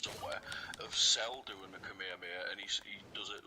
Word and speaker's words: Kamehameha: You know it's pronounced Kamehameha.